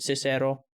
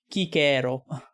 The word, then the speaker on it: Cicero: And you know what's also interesting, like the way Italians nowadays pronounce the C. Because nowadays it's more like a ch sound sometimes.